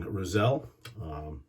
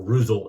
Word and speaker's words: Roselle: aftershave we'll be using roselle or ruzel as it's supposed to be pronounced and then for our